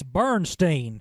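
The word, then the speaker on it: Berenstain: All y'all saying it wrong, it's Bernstein.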